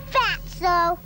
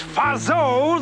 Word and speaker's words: Fatso: Leave him alone, Fatso. It's Fazo, the tea is silent.